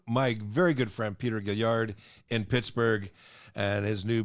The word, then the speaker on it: Guellard: my last name is pronounced Guellard. Guellard, like the Lord. Guellard. Like the Like pig lard, fat.